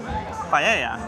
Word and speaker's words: paella: Paella.